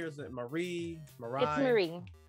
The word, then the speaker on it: Marie: i'm good how are you now is it mary or is it marie marie it's marie marie yes okay uh